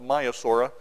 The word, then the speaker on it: Maiasaura: I know it's pronounced Maiasaura, but it's got M-A on the front of it.